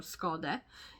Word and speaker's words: Skade: In Swedish we say Skade with an E at the end, but it's pronounced E, because that's how you say E in Swedish. So we spell it with an E at the end, but it's actually pronounced E.